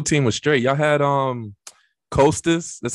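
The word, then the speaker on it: Kosta: Y'all had Costas, that's how you say it?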